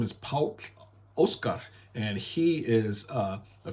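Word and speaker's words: Páll Óskar: o k a r Paul and but you pronounce it P Oscar all right and you can look up his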